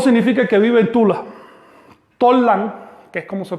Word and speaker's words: Tollan: Tollan, que es como se pronunciaba antiguamente Tula, Tollan solo quiere decir capital